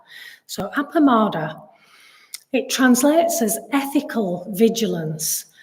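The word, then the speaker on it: appamāda: So appamada, I think it's sometimes spelled and pronounced as apramada. So appamada, it translates as ethical vigilance or ethical heedfulness.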